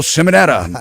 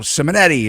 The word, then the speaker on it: Simonetta: estate broker, uh, Simonetta. And some people call me up and they they want to say his name is Simonetti. Are you going to have that Simonetti guy back on?